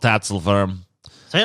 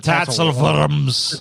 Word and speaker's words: Tatzelworm: Good old Tatzelworm. Say it right, TJ. It's not the Tatzelworms. Tatzelworm.